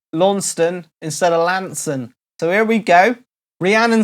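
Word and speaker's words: Launceston: few years ago I thought it was called LAN stone but it's Lanson right there where are you going Lantern Lantern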